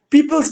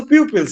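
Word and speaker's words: pupils: দেখেন আমি আপনাদের প্রিভিয়াস ক্লাসে বলেছিলাম খুবই গুরুত্বপূর্ণ কোশ্চেন, পিপলস না পিউপিলস, উচ্চারণটা হচ্ছে পিউপিলস, ঠিক আছে?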